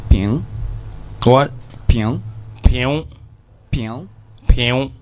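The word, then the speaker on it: 瓶: You have a quantifier like ping. What? Ping. Ping. Ping. Ping. Yeah, it's spelled P-I-N-G, but it's pronounced ping.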